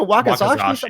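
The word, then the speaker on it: wakizashi: How do you say was that? It? It's like a wakazashi. Like wakazashi. There we go. That's what it is.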